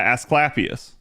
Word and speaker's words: Asclepius: Yeah, Asclepius.